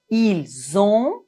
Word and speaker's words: ils ont: Ici, on doit faire la liaison entre le S et la première lettre du verbe qui est une voyelle. Nous avons, vous avez, ils ont, elles ont. Finalement, ne prononcez pas le N complètement. Nous avons, ils ont, elles ont. On ne doit pas dire nous avons, ils ont, elles ont. Non.